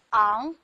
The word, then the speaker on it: 昂: 这个字念昂，它首先是一个零声母音节，同时也